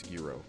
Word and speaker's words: gyro: How did you just pronounce gyro? Gyro. Don't you dare. Next thing we know, some jackass is gonna be like, how about pineapple on omelet? What about pineapple on an omelet? I haven't heard about it. Gyro. Fuck you. No. I'm not doing it. Fuck you. Gyro. As a G.